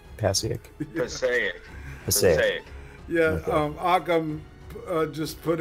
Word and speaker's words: Passaic: Did I pronounce that right? Passaic? Passaic.